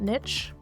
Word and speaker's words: niche: I will be pronouncing it niche because that's how it's listed in the dictionary, according to my Google search. However, I don't care if you call it niche, but I was raised calling it niche.